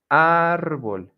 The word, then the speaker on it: árbol: The stress syllable is going to be the second to last, and that's when you can say ángel, árbol, origen, manzana. And that's how you do it, that's how you pronounce it.